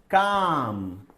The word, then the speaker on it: calm: Then calm. What is silent? L.